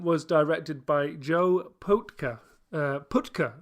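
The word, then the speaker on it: Pytka: Putka, actually, I think is the correct pronunciation, who is otherwise known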